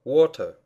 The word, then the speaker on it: water: Например, как слово water. Вода. Water. Буква A в этом слове создает долгий звук O, а не короткий.